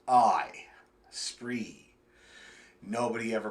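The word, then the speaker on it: Spraoi: it's spelled s p r a o i spree nobody ever pronounced it right not once we were together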